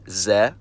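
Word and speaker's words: З: It's called Z, and it takes the sound of the English letter Z. To remember the pronunciation when I see it in a word, I always think of a middle-aged Slavic man driving a BMW Z3. Z.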